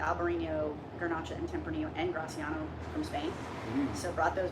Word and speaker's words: Graciano: That's how they say it in Spain, Graciano.